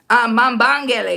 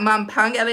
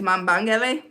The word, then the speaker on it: Mambangele: Mambangele. It's not Mampangele. It's Mambangele.